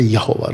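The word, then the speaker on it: Yahweh: जहोवा witness वाले बुलाते जहोवा, जहोवा। जे हम बुलाते यहोवा। राइट, जो सही उच्चारण है यहोवे, यहोवे, यहोवा।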